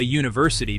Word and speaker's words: university: Conversely, we say a university because university starts with a Y sound, Jew, which is a consonant sound.